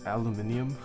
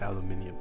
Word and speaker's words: aluminium: supports switch top removal it's pronounced aluminium is it really aluminium i'm american i don't say aluminium oh look at how